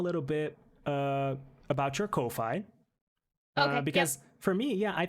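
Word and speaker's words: Ko-fi: it sure um so it's it's it's actually pronounced kofi like i said yeah kofi um yeah so um it's it's pretty great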